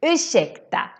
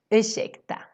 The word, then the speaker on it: ursäkta: Always when you see RS, you pronounce it as shh. Same thing for this word. Ursäkta, excuse me. You don't say ursäkta. No, you say ursäkta. Shh, ursäkta.